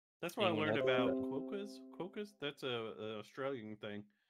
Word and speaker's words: quokka: And that is the entirely wrong pronunciation of that. How is it? What is it called? It's a quokka.